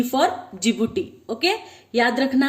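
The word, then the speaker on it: Djibouti: तो देखो डी फॉर जिबूटी, okay, इसे कैसे प्रोनाउंस करना है, जिबूटी।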